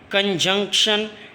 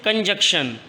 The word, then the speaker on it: conjunction: rate as normal or calmly verb adverb preposition conjunction interjection students I have heard from many of you boys there there do not pronounce it clearly many students do not pronounce